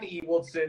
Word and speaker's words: Ewoldsen: So Megan Ewoldsen, am I saying it right? Yes, with an With E.